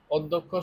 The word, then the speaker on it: অধ্যক্ষ: ও কাকার দিব আচ্ছা অধ্যক্ষ শব্দ যদি খেয়াল করি এখানে অ এর পরে জ ফলা তাহলে আমাকে অ এর পরিবর্তে আমাকে কি লিখতে হবে ও লিখতে হবে এই ধ জ ফলা